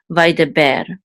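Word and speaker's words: וַיְדַבֵּר: This is a mircha right here, and it tells you that the accent is on the last syllable of the word.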